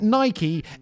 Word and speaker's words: Nike: but I can't win if I pronounce it Nike every British person is